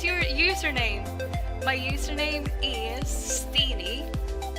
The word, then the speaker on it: Stin: My real name is spelled out S-T-I-N, but they would always get it wrong. They would say Stin instead of Steen.